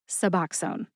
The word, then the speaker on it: Suboxone: The correct pronunciation one more time is Suboxone.